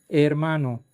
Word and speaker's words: hermano: hermano Another example is hermano, which means "brother." If H appears in the middle of a word, simply connect the surrounding sounds and do not pronounce the H.